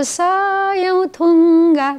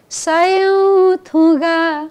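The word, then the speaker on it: सयौं थुँगा: अब सयौं थुङ्गा छ नि त होइन सुरुमा। अब सयौं स सिंगल अक्षर हो, हुँदैन। समा लामो हुँदैन। सलाई लामो तानिन्छ भने त्यो दीर्घ भन्ने बुझिन्छ। दीर्घ भनेको लामो। यो कस्तो उच्चारण गर्नु पर्थ्यो? सयौं थुगा हुनु पर्थ्यो।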